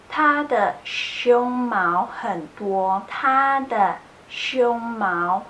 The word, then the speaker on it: 胸毛: are going to learn how to differentiate the sound of show mouth and show Mao I know it can be quite difficult sometimes if you pronounce the words Romi in Chinese so make sure you pronounce this correctly show mal it's panda show mouth its chest hair so they're very very